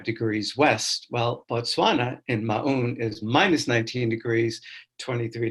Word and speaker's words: Maun: So I live in Maun, Botswana, M-A-U-N. It's actually pronounced Maun by the locals.